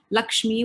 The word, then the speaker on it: LXME: So I set up Lakshmi, which is spelled LXME.